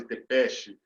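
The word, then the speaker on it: Țepeș: O Vlad II é o Vlad Dracul, que vocês conhecem, e o Vlad III é o Vlad Tepes ou Vlad Tepesh. Depende do sotaque, depende da região, depende da pronúncia.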